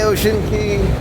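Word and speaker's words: Ocean Cay: Usually, they go to Ocean Key twice. She called it Ocean K, so I may have been saying it wrong the whole day.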